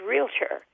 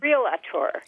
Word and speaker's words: realtor: mispronounce, and that is realtor. Everybody says realtor. Yeah, you want a vowel between the L and the T, don't you?